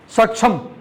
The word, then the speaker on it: Saksham: Then is it Saksham or Satcham? How do I pronounce? Saksham. Am I right?